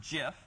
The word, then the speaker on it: GIF: Okay, GIF, or probably more properly pronounced GIF, as per the creator's naming of it.